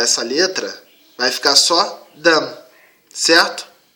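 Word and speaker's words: דם: Se a gente tirar o prefixo aqui, que é essa letra, vai ficar só Dam, certo?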